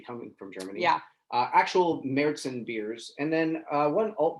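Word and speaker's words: Märzen: And so we have 2 Marzens. And so really when it first started, it was all Marzens.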